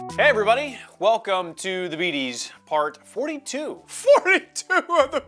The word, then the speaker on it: Betes: It's pronounced the Beaties, not the Beatus, because I don't have diabetes.